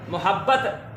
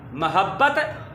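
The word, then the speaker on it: محبت: Meme पर पेश, या यूँ कह लें मीम की पेश के साथ इसको हमने नहीं पढ़ना, मीम की ज़बर के साथ इसको पढ़ना है। मोहब्बत गलत है, मोहब्बत दुरुस्त है।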